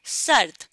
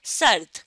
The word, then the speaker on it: سرد: سرد رے کے اوپر جزم کی علامت ہے, تو اس لیے رے کی آواز بہت ہلکی سی ہمیں سنائی دے گی, ہلکی سی آواز آئے گی. اور پھر اگلے حرف کی آواز ہے سرد.